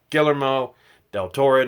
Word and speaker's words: Guillermo del Toro: check it out and like I said I butchered the guy's name it's Guillermo del Toro not none you know whatever I said before